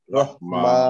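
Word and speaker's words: رحيم: এখানে রহিমি না পড়ে পড়বো রহিম। রহিম। তাহলে আমরা পড়লাম হলো বিসমিল্লাহির রহমানির রহিম, রহিম রহিম। এটা হাটা গলার ভিতরে উচ্চারণ হবে, রহিম। রহিম। আমরা যে আগে রহিম পড়তাম ওইটা পড়া যাবে না। রহিম তো ওই হাটা হচ্ছে গোল হা, এটা লম্বা হা, এটা রহিম পড়তে হবে, রহিম ভিতর থেকে।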